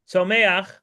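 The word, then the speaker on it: Tzomeach: Then the next level is to I would spell that T Z O M E A C H. Tomak means things that grow and that means trees, plants, um all sorts of vegetation.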